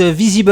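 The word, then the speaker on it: Vizeeble: LinkedIn, sur son site Visible. Alors, je vais épeler le nom parce que ça s'écrit pas comme ça se prononce.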